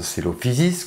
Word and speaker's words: Coelophysis: Coelophysis, ça se prononce Coelophysis, Coelacanthe, c'est Lacanthe, Moeritherium, Meritherium.